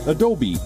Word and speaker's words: Adobe: do be a dope Adobe Adobe the correct pronunciation is Adobe Oh imager I'm good I'm good enjoy in